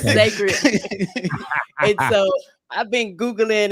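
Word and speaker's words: Cécred: I said Secret, but Sacred. It's spelled weird with a C. It's not your fault. It's Sacred.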